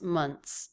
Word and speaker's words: months: There it's a TS sound instead of THS. So that might make it easier to pronounce. Months, months, months, instead of months, months, months.